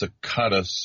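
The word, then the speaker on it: Tsakiris: This is, of course, Alex Sakatas, I believe is how his last name is pronounced, host of Skeptico, great podcast out there on the interwebs.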